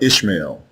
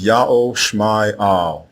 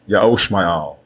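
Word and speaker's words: ישמעאל: The correct way to say the name of Abram's firstborn son is not Ishmael. It is Ya'o Shma'al, Ya'o Shma'al, and it means Ya'o is the God who hears.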